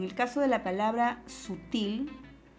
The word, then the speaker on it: sutil: caso de la palabra sutil la palabra sutil es una palabra que lleva la mayor fuerza de voz en la última sílaba entonces eso quiere decir